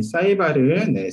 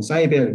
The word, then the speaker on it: SciVal: 저희 사이발은 사이언스 이밸루에이션의 약자로서 사이발 혹은 사이벨 이렇게 발음을 해주시면 되는데요.